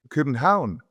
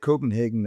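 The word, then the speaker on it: København: Or I assume you would pronounce Copenhagen. Copenhound. Copenhound. Yeah. Copenhound. Yeah. But we get Copenhagen as well.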